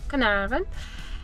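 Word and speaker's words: Carnarvon: Space Museum in canaran just found out that you pronounce as canaran anyhow we just have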